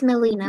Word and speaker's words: Melina: So the pronunciation in Spanish will be Melina, the way it is written in your profile.